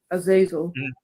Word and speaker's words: Azazel: Yeah, that's how how its name is pronounced in English, Azazel.